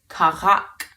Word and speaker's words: քաղաք: To say city in Armenian, you can say քաղաք, city, քաղաք. Now remember, there's that r sound in there, which is like the French R, and I soon will